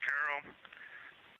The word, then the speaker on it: Carroll: Her name was Carol, the spouse of Reid, the mother of Katie and Ellie.